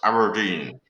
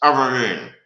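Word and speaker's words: abrdn: It's pronounced Aberdeen. It used to be called Aberdeen, but it's pronounced Aberdeen.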